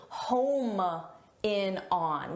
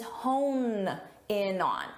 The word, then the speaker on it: hone in on: The expression is hone in on.